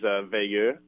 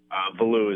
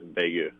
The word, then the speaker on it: Veilleux: In French, it is Veilleux. But thank you. I feel vindicated that I've been maintaining that all along. Sorry, keep going. Yeah, but growing up in Connecticut, it's kind of hard to teach people how to pronounce stuff in French. So Veilleux is what we tell everyone. But if you ask going back to Quebec, if you ask my family, it's always Veilleux.